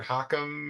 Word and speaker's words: Hakim: I believe that's how you pronounce her name. I did see her at the NCSS conference and call her that once, and she responded to it. But I've also heard Hakim and several other pronunciations.